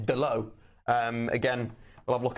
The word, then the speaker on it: Dalot: You read it Dalot, but it's Dalot.